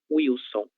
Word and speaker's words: Wilson: Em alguns casos a gente vai pronunciar com som de U, em outros com som de V. Então não há um consenso. A gente pode utilizar as duas formas sem nenhum problema, ok?